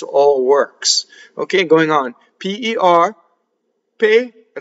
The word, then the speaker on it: per: P-E-R, per, right? So the vowel is A, not rhyming with the fruit, pear, or a pair of socks. Pay, like you're going to pay someone, right?